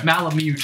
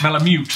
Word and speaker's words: Malamute: mute mute mute mute I've been corrected okay Malamute Malamute apparently it was common knowledge that's what everybody